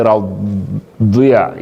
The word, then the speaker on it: رضي: We know the other use go to say radiya, go move your mouth either side for pronounce dot.